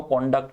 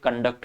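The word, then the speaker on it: conduct: जब नाउन होती है तो इसको कॉन्डक्ट कहते हैं, वर्ब होती है तो कंडक्ट कहलाती है, वर्ब होती है तो उसका प्रोनाउंसिएशन होता है कंडक्ट, नाउन होती है तो इसको कहते हैं कॉन्डक्ट, ठीक है ना।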